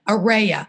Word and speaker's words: Aurea: goes I got it it's a ray of sunshine Araya and I said okay